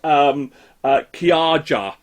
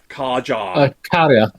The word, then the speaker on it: Kaja: The other one, and that was featuring somebody called Kaja. Karja. Is it? Oh, is that how you pronounce it? Oh, yeah. Yeah. Finnish.